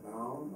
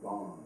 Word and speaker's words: bond: Yeah, bound or bond? Bond. I'm pronouncing it.